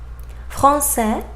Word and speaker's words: français: Final S examples: français, français, anglais, anglais, tapis, tapis. Final T, petit, petit, étudiant, étudiant, président, président. So final S and final T, I didn't pronounce them.